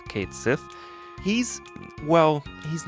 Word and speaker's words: Cait Sith: he's called kate sith i know there are different ways of pronouncing that but i'm gonna go with kate sith he's well he's not